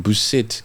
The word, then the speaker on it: Buisset: How do you say her name? Buisset. Karine Buisset.